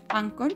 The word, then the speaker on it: Anchor: H como Anchor, pero se pronuncia Anchor porque es una palabra en inglés, y van a encontrarse